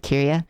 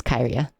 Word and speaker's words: Kyria: game fest also hi i actually pronounce her name right now i i kept forgetting how to pronounce it every time i said it so i said kirya it's kairia i i forgot every